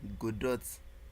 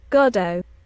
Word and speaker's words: Godot: Let's see how we should actually pronounce the engine. Like I've been using god dot since um since we start the tutorial but it's actually not pronounced like that. So godo godo godo godo.